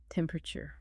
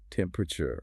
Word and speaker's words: temperature: It's written as four syllables, but it's frequently reduced to three. Temperature. Temperature. You know, the full four syllable tempu rude is technically the most precise standard, but quick British delivery often compresses those internal vowel sounds. The learner should aim for clarity in that internal poo sound, avoiding collapsing the word completely.